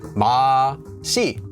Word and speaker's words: 맛이: Normally, 맛있다 is from 맛 with the subject marker 맛이, because we have a consonant before here, so we can pronounce this as 맛이.